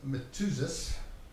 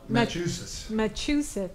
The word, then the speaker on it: Matuzis: Jonathan Matuzis. Did I pronounce his name right? No, Matuzis. Massachusetts.